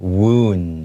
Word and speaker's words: wound: 所以这边有几个蛮重要的字，第一个是 lead to，老师有说可以是 cause， C-A-U-S-E cause，也就是造成的意思。再来第二个字是 wound 这个字，其实对很多在学英文的人来讲，这个发音可能不是这么好发，但是就是 It's like kind of W-O-O-N-D, wound, okay?